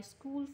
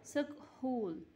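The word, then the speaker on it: school: Look at this one, the word स्कूल, जो इसमें एज की को एज का कोई साउंड नहीं आ रहा। ओके, वैसे एज का साउंड होता है ना ह, तो अगर हम इसका साउंड पढ़ेंगे तो ये बन जाएगा सकहूल। ठीक है, लेकिन इस तरह नहीं होता, हमने इसको साइलेंट रखना है क्योंकि एज की कोई आवाज़ नहीं आ रही, कोई साउंड नहीं आ रहा, तो ये एच जो है इधर, ये एक साइलेंट लेटर है, तो हम इसको पढ़ेंगे स्कूल।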